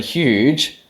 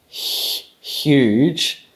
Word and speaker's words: huge: But when you pronounce the word huge, huge, you actually make a palatal fricative. Huge. That there is actually a palatal fricative, which you probably didn't know you knew how to make.